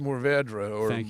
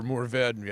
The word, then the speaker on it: mourvèdre: out with that one it's pronounced mourvèdre or more very actually in French and it is a